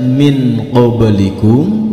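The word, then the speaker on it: من قبلكم: sentam tidak boleh disentak hati-hati tulisannya Min qoblikum tetapi cara membacanya Nun yang berharakat sukun disamarkan ke dalam huruf berikutnya setelah huruf qaf ada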